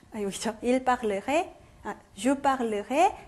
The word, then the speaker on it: parlerai: 자, parler 동사는 원형일 때는 parler 해서 요 발음이 났어요. 자, 그런데 어미를 붙여버리니까 이 에가 이쪽 음절로 넘어가는 게 아니라 이쪽 음절로 넘어가겠죠. 자, 그래서 어떻게 되냐면 요 발음이 없어져요.